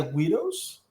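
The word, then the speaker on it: Guido: antes se les decía widows a la gente de Italia de cierto como nivel sociocultural y socioeconómico que llega a Estados Unidos. Widows, así como... Widow. Se escribe G-U-I-D-O, widow.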